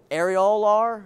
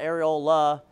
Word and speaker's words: areolar: purplish color and that's arol is how you say that not aiola arol is AR ol is a nipple okay just if you